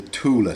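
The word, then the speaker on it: Thule: There's also something called the Tula Society. Tula spelt like the boxes that you put on top of cars, the Tula Society.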